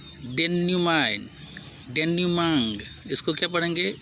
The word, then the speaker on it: denouement: अगला शब्द है डेन्यूमाइन, डेन्यूमांग। इसको क्या पढ़ेंगे? ये आधा अ है। डेन्यूमांग, क्या पढ़ेंगे?